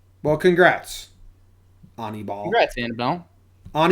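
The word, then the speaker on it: Aníbal: the pronunciation on baseball-reference it says ah me ball on e ball is how you say it because that's I've never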